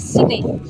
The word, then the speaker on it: Signy: It is, I've been doing it far too Southern European as Signy, and it's Signy.